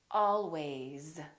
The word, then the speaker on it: always: Another word is was, because, these, those, please, always. So these are some very common words that we use all the time that are spelled with an S and pronounced with the Z sound.